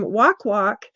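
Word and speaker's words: wakwak: uh main part in the Philippines the term walk walk that's w-a-k-w-a-k but it's pronounced walk is associated with the Aswang the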